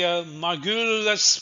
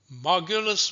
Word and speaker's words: Margules: roots, as it were, I thought Margules was a Frenchman, so I used to pronounce his name Margules. And then I thought perhaps maybe he's Greek, which would explain the pronunciation Margules. But it turns out that he is an Austrian.